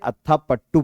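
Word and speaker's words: Athapaththu: खिलाड़ी है ठीक है आप इसे अता पट्टू पढ़िए प्रोनाउंस इसका अट्टा पट्टू हो रहा है ठीक है अत्ता पट्टू पढ़िए सही रहेगा तो चमारी अत्ता पट्टू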